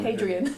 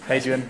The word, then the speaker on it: Adrian: Not Hadrian. Adrian. I keep saying it wrong.